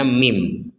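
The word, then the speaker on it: مِن: Ada nun sukun bertemu ba, maka kita membaca min ini, min ya, dibacanya mim.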